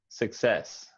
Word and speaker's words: success: success that sounded good success i wouldn't say the you i would say more like the schwa like sick success sick like i'm sick